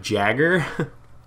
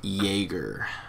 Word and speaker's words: Jaeger: By the way, guys, at first I started calling him Jagger, which is a really cool name, same. By the way. But it's actually pronounced Jaeger.